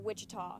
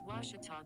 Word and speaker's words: Ouachita: at a baptist university back in texas everybody pronounces it wichita but really it's ouachita washington washington how would you pronounce it it's washita baptist university get it